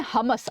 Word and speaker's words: Hamas: नाम है हमस, आप सभी ने सुना होगा, हमस या हमास जो भी आप प्रोनाउंस करें, हमस नाम है यहाँ पर, ठीक है।